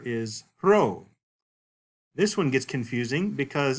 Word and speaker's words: rho: It looks like a P, but it in fact is pronounced like an R.